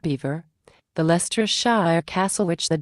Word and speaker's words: Belvoir: They do things differently at Belvoir, pronounced Beaver, the Leicestershire castle which